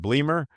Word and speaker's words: Bleemer: Is it Bleemer? Yeah, that's right. That is the correct pronunciation, uh founder of One Crew.